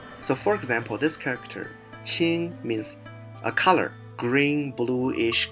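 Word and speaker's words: 情: And also if you add the heart radical, qing, it means emotions. If you add the rice radical, it means spirit, but the pronunciation changed a little bit, jing.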